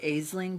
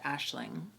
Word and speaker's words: Aisling: think it smelled like aisling but I think it's pronounced Ashling I'll just say it